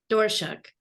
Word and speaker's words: Doerschuck: we have is it what's your last name how do you say it door shook okay Jamie dorschuk and